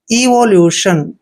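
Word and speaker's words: evolution: Next है EVO इसको पढ़ते हैं ईवो, ईवो, LUTION ल्यूशन, इवोल्यूशन। अभी इवोल्यूशन मीन्स होता है विकास, इवोल्यूशन मीन्स विकास, प्रगति।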